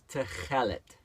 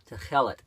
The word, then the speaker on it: tekhelet: And to pronounce it is Techelet. Techelet.